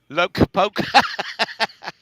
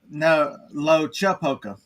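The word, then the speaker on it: Loachapoka: Locapoca. Locapoca. It's Lochapoka. Locha. Lochapoka. Okay. I was putting the hard K sound on this.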